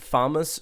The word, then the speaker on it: FAMAS: I'm pressing right now Oh snake pronounces it farmers so snake is right and all unless you